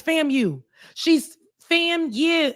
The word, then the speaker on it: FAMU: She can't even pronounce fam you. Wait a minute. What you mean? She g me what you mean? She keeps saying fam. She She separates when we say fam you. It's fam you.